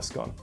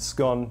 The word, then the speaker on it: scone: that is not a scone a few things to point out firstly it's pronounced scone not scone secondly they should all